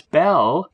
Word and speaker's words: Bel: was also known as Bel or Baal. Bel is the Aramaic pronunciation of Baal, so same thing.